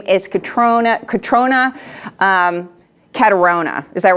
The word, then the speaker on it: Catriona: Her name is Catriona Caterona. Is that right? How do you say her name? I think her family in Ireland says Catriona.